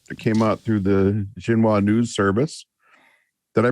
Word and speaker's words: Xinhua: was a report that came out through the Xinhua News Service. Did I pronounce that right? That's your area of expertise more than mine. Xinhua.